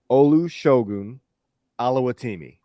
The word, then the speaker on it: Olusegun Oluwatimi: Olusegun Oluwatimi.